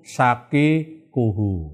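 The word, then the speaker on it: شقيقه: Nah, di sini jamnya wa ana ibnu sakikuhu, ya. Bacanya itu sakikuhu ya, bukan sakikunhu ya, sakikuhu.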